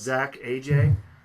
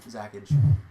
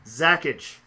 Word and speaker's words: ZACAJ: That's one way to pronounce it. Not the right way, but it works. What's the correct pronunciation? Zackage. Zackage. I never knew that's what it... It's one word. There's no space.